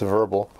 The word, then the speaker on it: Werbel: reached out to me verbal microwave uh that this is a German W lease it's it's pronounced verbal uh microwave and they